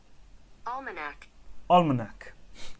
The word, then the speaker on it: Almanac: Almanac. That's how it's pronounced.